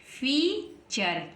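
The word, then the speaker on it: feature: पढ़ेंगे चर पढ़ेंगे और यह बन गया फी फीचर क्या बन गया फीचर ऐसे ही नेक्स्ट लिखा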